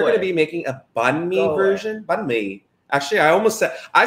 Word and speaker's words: banh mi: Banh mi. Okay. And if you are non-Vietnamese, you probably have said it or heard it's pronounced banh mi.